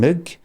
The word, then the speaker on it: Moog: That's why I'm saying I'm saying Moog. And it rhymes with Vogue.